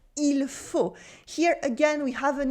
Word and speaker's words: il faut: Sometimes we don't cut the whole il, but at least we don't pronounce the L at the end of il. For instance, the last example can sound like il faut dormir maintenant.